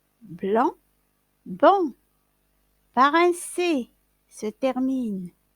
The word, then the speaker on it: blanc: se prononcent pas estomacs blot se termine par un c'est qu'on ne prononce pas blanc beau parent c'est cette